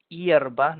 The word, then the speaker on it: hierba: para la salud luego ojo con la pronunciación de hierbas no olviden renunciar la y al principio hierba available en español